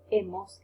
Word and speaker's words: hemos: Okay, and this is silent, so it's has, a, hemos, habéis, han. The H is silent, as you know already.